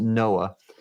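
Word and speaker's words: NOAA: with the national Administration we pronounced it Noah uh that uh we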